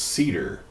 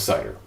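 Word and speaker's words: CIDR: about the cider notation I've I've heard that pronounced cider and I've heard that pronounced Cedar H I'm going to stick with cider uh how do you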